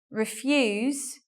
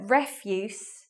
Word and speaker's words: refuse: And the pronunciation difference is quite obvious in these examples. So refuse as a verb means to say no about something, but refuse is a formal British word for garbage or